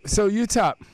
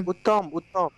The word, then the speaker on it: Uttam: So Utah, am I pronouncing that right? Utah? yeah. Huh? I could not get you properly. Oh, okay. I said, am I pronouncing your name right? Utah? Utah? Uttam.